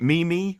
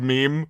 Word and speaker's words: meme: But you know, It's like the just people that it's- went around saying what was it, Mimi for a while instead of meme. Like because Yeah. that's how they pronounced it.